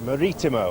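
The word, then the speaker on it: Marítimo: Maritimo, I'm told, by our Portuguese friends.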